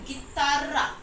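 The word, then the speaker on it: guitarra: आई टी ए आर पर आपको Spanish में आप बोलते हैं गिता गी क्योंकि जीयू आई है गी ता और डबल आर है तो वो र का साउंड करता है र तो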